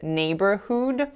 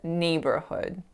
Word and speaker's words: neighborhood: So that final syllable, the vowel there should be an a lax sound, but I made it a tense u. So I said neighborhood, but I should have said neighborhood.